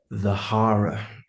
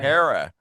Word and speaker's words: The Hara: How the band name is pronounced is the HARA.